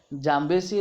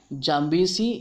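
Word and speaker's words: Zambezi: तो आपकी question number 5 का आंसर है जाम्बेसी रिवर। इसे दो तरीके से उच्चारण किया जाता है, जाम्बेसी या फिर जाम्बेसी।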